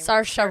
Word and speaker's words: Saoirse: Saoirse Ronan. Saoirse Saoirse Ronan.